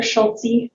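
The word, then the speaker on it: Schultze: yes good morning Mr schultzy I wrote down to make sure I pronounced that e at the end of your name my name is Stephanie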